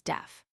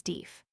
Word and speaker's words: deaf: Its proper pronunciation, in the England that the colonists left, was slash deef slash, but it now rhymes with slash jeff slash. That new pronunciation has been adopted by polite American, despite the protests of Noah Webster, but in the common speech the word is still always deef.